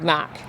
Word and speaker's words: Mach: is sculpture by David Mack it's it spelled like mac as the Ford Mustang on the Mach 1 Mustang it's the same spelling as that it's a bit of